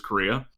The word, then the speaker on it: Correa: Congressman Representative Lou Correa, I refuse to say his name like Korea, even though it is Korea, because that's an actually good person and author, and not a useless senator.